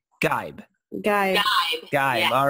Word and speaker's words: Geib: So it's Geib.